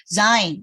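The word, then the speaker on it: ז: 되고 zain 그 다음에 7번째 글자가 zain 한글에 이제 지읒 발음하고 가까워요. 근데 영어로는 zu 할 때 z하고 가깝고요. 그러니까 지읒과 z의 가운데 정도 뭐 이렇게 많이 z 이렇게 굴리지는 않아요. 그냥 근데 이제 조금 약간 z 이런 식으로 발음하고 그다음 8번째 아까 말씀드린 hat 가래받는 소리.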